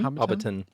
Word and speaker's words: Hobbiton: Went to Hobbit Town. Really? Nice. Is that how it's pronounced? Hobbiton? Hobbiton.